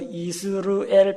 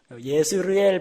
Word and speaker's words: 이스르엘: 그 다음에 갈릴리 지방 남쪽에 저 오른쪽으로 요르단강을 향해서 이스르엘 평원, 예스르엘 평원, 이스라엘 평원, 발음은 약간 차이가 납니다만 같은 지명입니다.